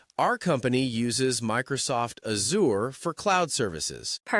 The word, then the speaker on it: Azure: It's the sound you find in words like vision or treasure. That's it. It's a soft buzzing sound. Azour. So you'd say, "Our company uses Microsoft Azour for cloud services."